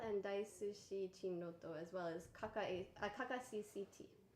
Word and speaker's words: Kakacct: DaisushiChinroto, as well as Kakacct. That's the way that's pronounced. Yes, Kakacct. we made sure. I was thinking it was like CAC account, like CCT is like the initials of his Chinese name.